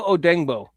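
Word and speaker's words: Odeyingbo: Odengbo. Deo Odengbo. I'm finally pronouncing his name correctly.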